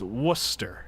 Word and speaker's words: Worcester: Trying to pronounce Worcester. Listen. It's Worcester.